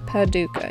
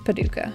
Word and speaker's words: Paducah: Am I pronouncing that correctly, Paducah? I'm scared that I'm not pronouncing anything right in Kentucky, and Kentuckians are gonna be like, yo, put some respect on it. Paducah. Yeah, it's Paducah.